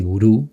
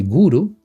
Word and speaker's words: guru: Y naturalmente, en la India, por ejemplo, uno busca un gurú, que no se dice gurú, se dice guru, para que nos ayude, para que nos enseñe cómo desenvolver estas cualidades.